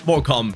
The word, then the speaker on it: Morecambe: I actually looked it up, and yes, it's pronounced Morecambe.